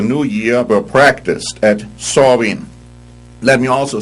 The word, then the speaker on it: Samhain: The Celtic year ended on October 31, the eve of Samhain. Now actually you spell that S-A-M-H-A-I-N, but you pronounce it Samhain or something like that.